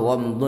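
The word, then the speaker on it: غمط: Au ghamdu nas, sabda Rasulullah ghamdu nas itu bacanya adalah ghain dibaca fathah, ghain bertitik satu dan mimnya dibaca sukun dan pakai to yang tanpa titik.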